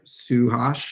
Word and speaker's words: Suhash: We have, I'm not going to pronounce it right, Suhash, is that right? Suhash? Yeah, that's right.